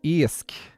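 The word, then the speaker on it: iasc: Of course, I should be getting you all to do it properly Irishly, which is Eisk. Eisk. Which is how you say fish in Irish.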